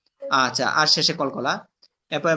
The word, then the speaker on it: قل: জিহ্বার গোড়া তার বরাবর উপরে তালুর সঙ্গে লাগাইয়া দুই নক্তাওয়ালা কফ। হ্যাঁ, কুল।